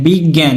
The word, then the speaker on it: বিজ্ঞান: ও জ্ঞান হয়ে গেছে এজন্য গ এর নিচে একটি হর চিহ্ন এবং দন্তন্য এর নিচে একটি হর চিহ্ন দিয়ে দিলে হবে কি বিগ চাপ প্রয়োগ করছে বিগ বয়স হলো আকার জ্ঞান ঠিক আছে বিগ জ্ঞান কিন্তু এখানে